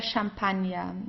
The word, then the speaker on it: Champagner: Just as here, der Champagner. Okay, it's also French, so we pronounce it the French way, der Champagner.